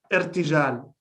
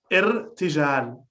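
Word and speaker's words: ارتجال: Irtijal. Can you say it again? Irtijal.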